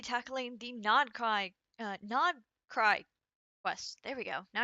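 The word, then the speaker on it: Nod-Krai: Today we're going to be tackling the nod cry uh nod cry quest.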